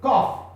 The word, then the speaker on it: cough: He said, look, in English, you write cough. C-O-U-G-H. Cough. When you write cough, you don't pronounce this as couch or something or GH. You pronounce the GH as F.